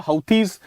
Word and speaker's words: Houthi: you have you know the roots of the houthi movement they can be traced to the believing